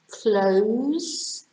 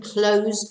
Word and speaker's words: close: etc a female pig number nine we have close and close close is when you close the door close the window close the lid on something you shut it's the same as shut shut and close and close is when somebody or something is close to you for example the telephone